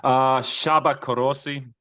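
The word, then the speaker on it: Csaba Kőrösi: So next, I cannot pronounce this name. Do you have the name? Shaba Korosi. Shaba Korosi.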